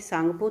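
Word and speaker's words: Tsangpo: जहाँ इसे त्यांगशोपो कहते हैं या सांगपो कहते हैं, सांगपो ता इसमें साइलेंट है।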